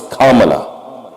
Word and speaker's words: Kamala: It's not Kamala, it's Kamala. Do you remember that? Maybe some of you remember that. They corrected immediately that this is not the way you pronounce it, and they were offended.